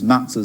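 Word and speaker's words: matzo: Otto Preminger's matzahs soggy and to have got away with it.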